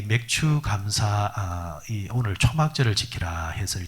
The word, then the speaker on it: 맥추 감사: 감사 자 그 2 어떤 분들은 발음이 안 되면 맥주 갑사 절 이런식으로 바로 많은 분들 많습니다 어떤 교회는 장로님들이 이 발음이 안되서 기도하다가 회전 기도하다가 맥주 감사절을 허락하신 하나님 감사합니다 그런 사람들이 5 쓰면 뭐